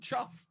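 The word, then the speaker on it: chough: of bird it's called chuff it's pronounced chuff chuff yeah it's spelt c-h-o-u-g-h which is which is okay to pronounce it chuff because it's like rough no like rough like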